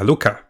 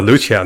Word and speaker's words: Luocha: So the second prediction is I think Luocha will actually come earlier. So Luocha, not Luocha, right? I cannot pronounce his name, is Luocha.